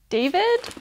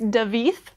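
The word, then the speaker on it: Davíð: So I think, because we've just been introduced to this character, David? Is that how you say it? Should be how you say it. Oh no, I'm sorry, it's Davith. Spelled like David.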